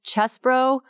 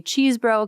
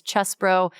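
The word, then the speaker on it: Chesebro: The other one was Kenneth Chesbro, which everybody keeps wanting to say Cheesebro because he's from Wisconsin, and it looks like it's pronounced Cheesebro, but it's Chesbro.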